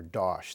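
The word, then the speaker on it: Dasch: The leader of the Long Island saboteurs, this George John Dash fellow, some people prefer Dosh, the German pronunciation, described his fellow saboteurs as, quote, a bunch of nitwits.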